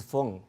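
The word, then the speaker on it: 风: Wind in Chinese pronunciation is feng.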